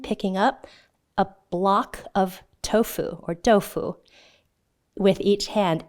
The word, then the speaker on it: tofu: So just imagine your hands are holding blocks of tofu or tofu. That's how it's pronounced in Mandarin.